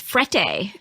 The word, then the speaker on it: Frette: But you had recommended these very fancy towels called frette. Correct. I said it right? You did.